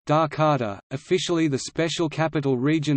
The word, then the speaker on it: Jakarta: Jakarta, Indonesian pronunciation, Dakarta, officially the special capital region of Jakarta Indonesian, Daerah Khusus Ibu Kota Jakarta, is the current capital and largest city of Indonesia.